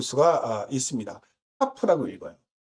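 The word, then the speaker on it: כף: 카프라고 읽어요. 그 다음 12번째 자음은 라메드라고 하는데 읽을 때는 라메드라고 읽고요.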